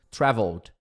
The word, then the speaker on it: traveled: Traveled. Traveled, som de D.